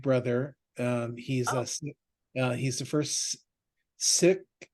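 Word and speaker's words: Sikh: He's Oh, the first sick. It's not Seek anymore. It's Sick, by the oh, way.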